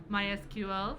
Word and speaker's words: MySQL: and today we have MySQL from Oracle, that's the right way to say it.